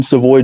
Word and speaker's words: Savoy: one of our Louisiana lifters um welcome seavoy Jr is that how you say it yes